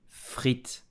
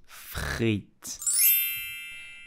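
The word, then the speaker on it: frites: french fries in French you will say Fritz Fritz you have to pronounce the r like the French do so freit did you know that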